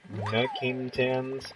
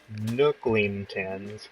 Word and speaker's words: Nookingtons: But yeah, I actually, mispronounced, Nookingtons. The way I pronounced it was Nooklingtons with an L in the middle, which, sorry about that, guys.